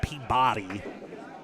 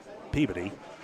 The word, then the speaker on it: Peabody: Not Peabody. Don't say it like that. Don't be weird. Peabody. With as few syllables as possible, please.